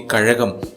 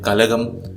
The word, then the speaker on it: Kazhagam: For example, when asked about the Kazhagam in Dravida Munnetra Kazhagam, North Indian parliamentarians called it Kalagam, Kajagam in the end, and they are unable to get the Ra."